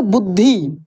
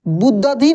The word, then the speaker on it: बुद्धि: ध है ठीक है कैसे पढ़ेंगे बुद्धि बुद्ध धि नहीं पढ़ेंगे आप इसको ऐसे भी